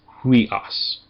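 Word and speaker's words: υἱός: So this one needs to be pronounced with an h in front of it. So it's huas.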